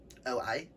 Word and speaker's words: Oi: O-I. I pronounce it as Oi. If that is wrong, Kit, correct me.